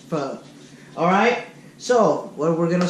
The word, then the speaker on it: pho: people call pronounce it fo for a ton of different ways it's spelled pho so but it's pronounced foe alright so what we're